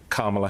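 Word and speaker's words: Kamala: his space stuck her hand out and said kamla Harris first off I'm saying my name so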